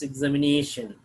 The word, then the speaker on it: examination: the third syllable means examination. Word ending with ION have the primary accent on second syllable from the last.